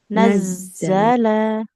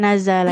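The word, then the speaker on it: نزّل: haqqo bil haqqo bilhaqqo diulang dulu nazza Nazzala naz alamnya enggak panjang. Nazalla alaikal kit bukan nazala ya.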